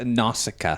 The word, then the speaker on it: Nausicaä: I think she is Nausicaä. She's Nausicaä? Am I saying that right? Uh no. That doesn't surprise me. It's Nausicaä.